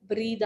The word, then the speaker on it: breathe: breathe सांस लेना यूज करना है, वहां आपकी स्पेलिंग सेम रहेगी, प्रोनाउंसिएशन चेंज हो जाएगी, वो breathe हो जाएगा। For Okay, ma'am. example, there is an exercise of breathe in, breathe out.